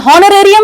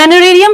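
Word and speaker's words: honorarium: एच is silent, हॉ नहीं है, हॉनोरेरियम नहीं है, यहां पर एच साइलेंट है। और ऑनरेरियम हम बोलते हैं, ऑनरेरियम की बात मैं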